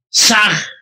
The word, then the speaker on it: Sah: Ham se escribe con las letras H-A-M. Saj se escribe con las letras S-A-H. La H suena siempre como J.